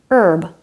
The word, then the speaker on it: herb: There are some common words that begin with a silent H like hour, honor, honest, and herb.